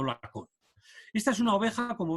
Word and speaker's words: Lacaune: a la española, pero su nombre de origen es lacaune, escrito en francés y pronunciado lacón.